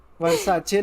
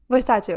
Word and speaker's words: Versace: So I mean वर्साचे नहीं होता. Versace होता है.